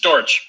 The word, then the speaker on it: Dortch: uh Jim but it's Terry is it pronounced dorch is that how you pronounce it Terry it's dorch D okay is it a German name I'm